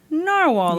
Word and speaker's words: Narwhal: Novar pens but wait a sec it's actually pronounced narwhal according to the company yes exactly I was going to clarify okay I did a little Deep dive and the the brand says they pronounce the name narwhal so I'm going with that all right we've